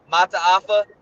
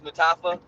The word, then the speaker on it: Mataafa: I can never say his name. Mataafa. I always used to call him Hercules Mutafa, but I liked him coming out out of college.